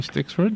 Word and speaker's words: Stixrud: It is written by our guest, Ned Johnson, and William, how do you say his name, Stixrud? Stixrud.